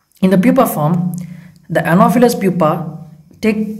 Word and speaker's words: Anopheles: Next, coming to Anopheles. PH gives a pronunciation of F.